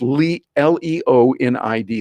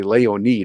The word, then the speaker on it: Leonid: It's Leonid. That's the way we would pronounce it in America. Leonid, and it's actually Leonid is the way they say it in Russia.